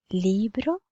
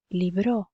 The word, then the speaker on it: libro: Et vous verrez qu'en gras, vous avez la syllabe à accentuer plus fort. Donc, libro. Je dis libro et je dis pas libro.